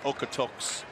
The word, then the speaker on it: Okotoks: He's making broadcasters throughout the region look up the pronunciation of his hometown. We believe it's Okotoks, Alberta, Canada.